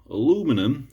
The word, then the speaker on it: aluminium: sort of nice uh aluminium or aluminum aluminum as the americans say it's made in